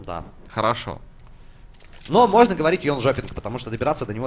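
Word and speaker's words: Jönköping: Ну, вообще, Йончопинг произносит шведы, вот как мне сказали.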